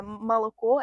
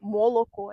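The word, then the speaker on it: молоко: moscovites, ils utilisent par exemple le son A, mais en Vologda, il utilise O, et c'est, à Moscou, c'est Maloko, et en Vologda, c'est Moloko.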